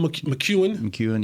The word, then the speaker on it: McKeon: Sean McEwen, yeah. Don't worry. It's spelled McKeon.